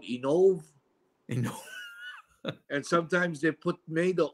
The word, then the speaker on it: Inoue: You know that's the proper pronunciation is like saying E and saying no way. So Inoue. Really? Inoue. Yeah, and the accent goes on the no, Inoue.